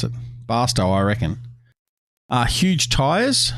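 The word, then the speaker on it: Barstow: frozen food or flour pronounced as if it was toe okay basto okay the way americans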